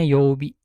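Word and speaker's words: 曜日: Nah, yang ini sepaket ini dibacanya yobi.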